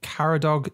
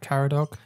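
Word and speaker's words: Caradog: i saying that right karadog yeah i had a little look online beforehand just to check pronunciation and i'm pretty sure that's how you pronounce it it's a welsh name lovely welsh name isn't it yeah so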